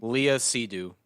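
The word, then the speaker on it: Léa Seydoux: you know uh sidu is that how you pronounce her name Leah sidu sidu thank you Leah sidu George McKay phenomenal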